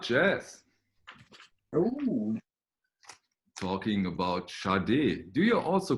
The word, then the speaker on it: Sade: There was a sticker that said pronounced Sade, Sharday, which apparently after all these years is not correct.